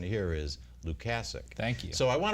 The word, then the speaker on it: Lukasik: Lukasik yes and I want to clarify it's Luke casick not Lukasik as the family in North Tonawanda so I'm not mispronouncing his name the pronunciation here is Luke assic thank you so I want to welcome both